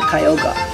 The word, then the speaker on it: Kyogre: for the archie and kyogre or some of you guys pronounce this uh kyoga so um right now